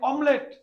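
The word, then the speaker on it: omelette: দিছে দেখছেন এই যে অমলেট আমরা এটাকে অনেকে মামলেট বলে গ্রামের অঞ্চলে দেখুন একটা মামলেট দেওয়া মামলেট না এটা মূলত কি অমলেট আমরা ডিম ব্যাধি বলি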